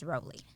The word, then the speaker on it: Rowley: back on this podcast the more common pronunciation is the rally which is why when we interviewed him before we started he said it's rowley and this whole time